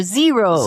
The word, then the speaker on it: gyro: but it's gyro yeah, and or zero. zero. Yeah. And No yeah, thanks. so there is no exact sound for that the Greek letter G, and it's somewhere between a Y and a ZH.